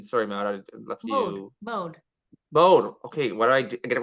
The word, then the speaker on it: Maud: Mode. Okay, what do I do? I get it wrong every time. It's the French way. It's MODE is how Mode. we pronounce it.